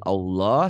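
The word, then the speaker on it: الله: Lafaz Allah mhm, dibaca tafkhim, tebal, berbunyi Allah seperti bunyi O.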